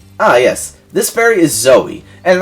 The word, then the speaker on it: Zoe: who played this and he kept calling zoe zou because he thought zoe was always spelt with a y on the end and as much as i loved that youtuber that's not the case like that is not the case at all and so there was something